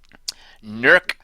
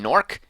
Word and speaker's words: Nurk: Nurk Pestclaw. Pony Carnival is already getting the name wrong by calling him Nork.